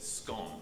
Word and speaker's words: scone: we can pronounce it scone. Well, we actually spell it the same, S-C-O-N-E, but it sounds like S-C-O-N, scone. Think Tron.